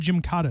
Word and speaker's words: Gymkata: I believe it's called Gymkata. Is that right? Did I mispronounce that?